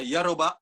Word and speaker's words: Yoruba: In Jamaica, we have several of those ethnic culture, which is the revival, the Poko, the still the Yoruba, or Yoruba as how they pronounce it, and the Indians, they still do their culture.